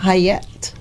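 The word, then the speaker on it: Chayet: uh c h a ye T so it's pronounced hayette oh my good different people pronounce but I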